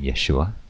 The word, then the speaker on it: Yeshua: The first letter in the name Yeshua, Jesus, is the Yod. Yod represents the Y sound in Hebrew.